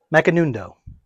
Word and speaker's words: Macanudo: It's M by I can never pronounce this name. Macanudo.